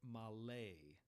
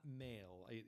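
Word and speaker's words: מלא: equals, in Hebrew we call it malay, not male. I know it looks like I wrote the word male.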